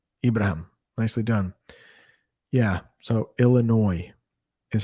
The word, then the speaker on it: Illinois: east but chicago illinois we don't pronounce that s on the end it is in california los angeles ibrahim nicely done yeah so illinois is how you pronounce that state no s illinois illinois all right couple more